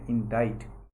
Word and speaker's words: indict: लिए आधिकारिक रूप से, दैट इज़ इंडाइट पढ़ते हैं इसको। सी का जो है उच्चारण नहीं होता है यहाँ पर, मतलब वो साइलेंट है, इंडाइट।